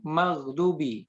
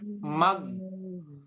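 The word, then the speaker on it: المغضوب: itu terutama di kalimat maghdubi hati-hati Jangan diucapkan mag yah mentok Bu Pak mag tidak boleh ya tidak boleh bukan gue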